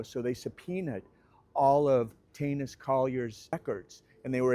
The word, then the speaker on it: Teunis: Not that it did also just have to mention the name Tanis. Some people pronounce it Tunis. And what it is is it's a dimminionative of Antonius. It's Dutch. Anyway, no one talks about this guy anymore.